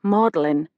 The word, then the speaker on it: Magdalene: Magdalene College, I'd quickly learned, is pronounced Mellin. Something to do with the pronunciation of vowels in the Middle Ages.